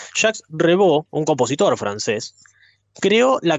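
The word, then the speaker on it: Jacques Revaux: el año 1967 cuando jax reevo si me escuchara a mi hermana me mataría por la pronunciación en francés Ja rebo un compositor francés creó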